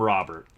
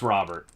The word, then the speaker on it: Robert: They call him Louis Robert or Luis Robert. If you've ever heard him give an interview, his name's Robert. Very common Spanish name. A very actually common Cuban name is Robert in Spanish.